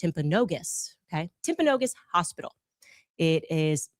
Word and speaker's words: Timpanogos: I'm I'm told actually it's pronounced Timpanogos, okay?